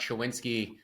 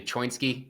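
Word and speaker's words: Choinski: It's actually Choinsky. I was watching his last regional fight, and they kept saying Choinsky, and I was like, that looks like it should be not pronounced Chowinski, but I'm going to say Choinsky because that's what the fight announcers were saying.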